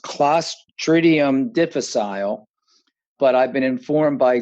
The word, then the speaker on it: Clostridium difficile: There's a long name for it, and it's actually pronounced Clostridium difficile, but I've been informed by today's guest that no longer is the name.